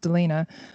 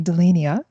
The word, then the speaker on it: Delina: same boat with you I can't tell you how many different ways people have pronounced Delina over the years especially my English teachers would call me de lis Nia for some reason so